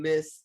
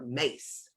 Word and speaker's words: Myss: missed in her work, I don't know how to say if I should say miss or mace, right? I say So miss. Does it pronounce yes, Mace? I It hear could some people be saying miss, Carolyn but why Mace. is spelled MYSS, and so that Y I always pronounce it like Am yeah, I I? don't necessarily pronounce it like a Mace. It should be Miss, I think.